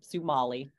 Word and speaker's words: Sumalee: Lisa and uh let me make sure I'm pronouncing it is it Somali sumali sumali okay Somali put together sumali wonderful um no thank you both for chatting